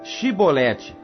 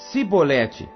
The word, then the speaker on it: chibolete: não então lhe diziam dize pois chibolete porém ele dizia sebolete porque não podia pronunciar bem então pegavam dele e